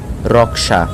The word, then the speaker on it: রক্ষা: রক্ষা এর উচ্চারণ হবে রক্সা কুরুক্ষেত্র এর উচ্চারণ হবে